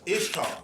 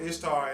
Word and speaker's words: Ishtar: And basically what it is in Babylon, there was a goddess called Ishtar, I-S-H-T-A-R. Most pronounce it like Easter also.